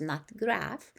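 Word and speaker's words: nut graf: a term that reporters use in that graph pronounced not graph is a paragraph near the top of an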